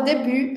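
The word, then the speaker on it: début: Na palavra debut, a gente também tem uma consoante muda no final, né?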